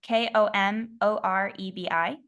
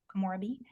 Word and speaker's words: Komorebi: I'll have to spell it for you. The song is Komorebi. Hold up. Hold up. One more time. K-O-M. K-O-M as in Mary, O-R-E-B-I. Komorebi.